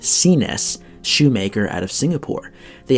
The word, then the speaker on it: CNES: of cap toe oxford from cnes pronounced cenes shoemaker out of singapore